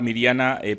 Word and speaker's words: Mirjana: Y en esta ocasión tenemos con nosotros a la profesora Mirjana, no sé si es Mirjana o Mirjana, la J se pronuncia en croata como una I, la profesora Mirjana.